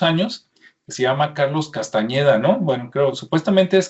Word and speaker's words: Castañeda: Carlos Castañeda, lo voy a pronunciar con ñ, parece ser que él